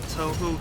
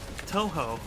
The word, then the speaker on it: Touhou: isn't good i'm nervous touhou okay that's that's easy for me to remember then because i've heard it pronounced all sorts of different ways like tuhu and taoho and you know i